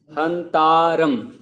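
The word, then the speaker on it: हन्तारम्: जैसे देखो ए के ऊपर ये लाइन खींचते हैं ना, तो उसको आ बोलते हैं, हंतारम ऐसा।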